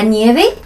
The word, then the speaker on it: nieve: ¿De qué color es la nieve? La nieve es blanca. La nieve es blanca. 얘네는 V 발음을 B 발음으로 하잖아. 그쵸. V가 없습니다.